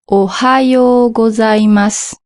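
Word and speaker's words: おはようございます: Un japonais, on prononce une espèce de H aspiré comme un anglais et on doit bien prononcer H. Ohio gozaimas.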